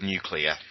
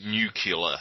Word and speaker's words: nuclear: have in common is they're unable to pronounce the word nuclear ah they pronounce it nucular like Bush question nine we're on